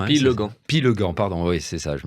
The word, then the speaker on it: Pillegand: J'ai bien prononcé votre nom Pigan hein. Pilegan, pardon.